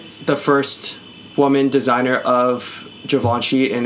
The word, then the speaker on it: Givenchy: I've always pronounced it Givenchy, but it's Givenchy, huh? Yeah. Yeah. Okay. That's super cool though. It's the French, dude. It's the French.